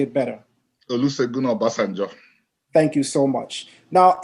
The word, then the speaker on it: Olusegun Obasanjo: wrong, so I'm going to ask you to pronounce the president's name because I'm sure you would say it better. Olusegun Obasanjo.